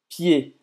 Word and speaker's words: pied: Aqui o pé em francês é pied, hein? ED que tem o som do E. Pied.